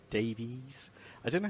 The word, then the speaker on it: Davies: I don't know how some people call him Davies, not Davis. Yeah, I don't know if I think it is Davies. It's spelled Davies, but a lot of people just kind of it rolls off the tongue if you say Davis.